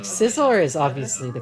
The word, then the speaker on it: Scizor: I once had a friend who pronounced Scizor, Gizzard, and I wanted to call my ears out. Yeah, Like, Scizor is obviously the correct one.